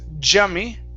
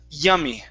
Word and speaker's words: yummy: Let's go to the word yummy instead of jummy. Okay. Give me an E sound at the beginning. Instead of a Spanish Y, it's yummy.